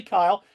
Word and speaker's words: Kile: Natalie, am I pronouncing your last name right? Yes, that's correct. Hey, Natalie Kyle and she's the PLM for track and field